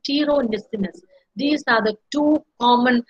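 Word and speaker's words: pteronyssinus: So, the house dust mites, particularly the species Dermatophagoides farinae, I forgot to italicize this, as well as Dermatophagoides tiro, P is silent, tiro nisinus.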